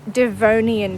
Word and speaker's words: Devonian: And hang on, as usual, I'm mispronouncing stuff. It's Devonian period.